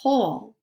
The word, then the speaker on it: whole: need to number two which word sounds the same as whole so where's the homophone